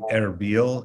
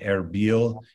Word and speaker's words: Erbil: if you look at this map you see arabil and then to the west of arabia mosul